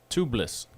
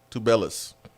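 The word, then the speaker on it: Azuolas Tubelis: Tublis. Tubelis.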